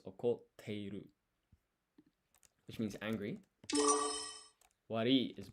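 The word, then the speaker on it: 怒っている: So here, this tsu here is half size. That means you don't actually pronounce it. Instead, it acts as a pause, and then you put an extra emphasis in the.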